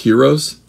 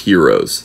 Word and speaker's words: gyro: They can be, are they pronounced heroes? They're spelled gyro, but I think they're pronounced heroes.